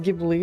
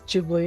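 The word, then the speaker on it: Ghibli: Apparently it's the it's not gibbly. It's jibly.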